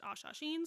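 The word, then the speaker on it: Hassassin: proud to be a direct descendant of the Ashasheen, which is spelled like assassin with an H in front of it, but Aaron was listening to the audio book and he corrected me that it's pronounced Ashasheen, so I will be saying it that way.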